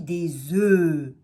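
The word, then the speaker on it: œufs: sont mus et quand on a un on va dire un oeuf et là on entend le f mais quand on a deux et plus à venir des on ne prononce pas le fn ont dit des oeufs puis enfin il ya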